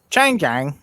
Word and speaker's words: Changjiang: How do you pronounce that again? Changjiang.